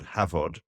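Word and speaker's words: Hafod: cheddar style cheese called Havard that's pronounced uh V but spelled f so it's h f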